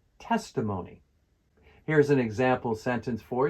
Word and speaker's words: testimony: Testimony. Testimony. The stress is on the first syllable. Testimony.